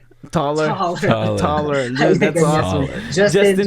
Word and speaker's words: Taller: But okay, you can mention that to me as a personal name, Talier. But as an artist, I am begging my followers to pronounce it as Taller.